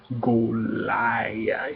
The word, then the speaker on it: Goliath: We're talking about Goliath. It rhymes with Godzilla, I hope you saw that movie, David.